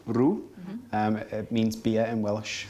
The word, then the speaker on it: cwrw: So you pronounce it Cwrw. Cwrw. Cwrw.